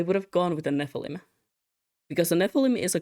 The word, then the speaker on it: Nephilim: I have to check the right way of pronouncing it. Um, yes, Nephilim.